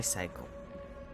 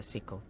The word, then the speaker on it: sickle: by my cycle. I know it's a sickle. I always pronounce it incorrectly.